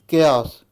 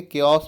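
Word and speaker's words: chaos: केओस, ठीक है, इसको हम लोग चाओस नहीं बोलेंगे, केओस बोलेंगे। सी साइलेंट है यहाँ पर।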